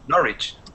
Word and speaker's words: Norwich: n.o r wi CH pronunciation by the way for this one we're gonna pretend that there's no there's no w-well pretend there's no W I said well to say no reach yeah yeah okay like